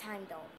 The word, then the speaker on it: Heimdall: Thank you, Heimdall, that's how you pronounce it, it's Heimdall. Alright, so, thank you, Heimdall, I guess, and so I'm gonna go and save Thor.